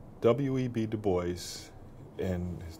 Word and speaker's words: Du Bois: Du Bois, and his name is pronounced Du Bois, and as if it were to be spelled B-O-Y-S-S, which is a harder S, was an African-American pioneer in the area of civil rights.